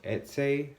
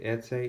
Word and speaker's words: Etsy: I got it off Etsy. I think is how you pronounce it on the internet. Etsy, E-T-S-Y, Etsy. I'm not sure.